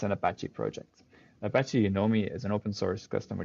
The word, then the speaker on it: Unomi: an apache project apache you know me as an open source customer data platform um and yeah the fun thing is that you pronounce it as you know me um and it allows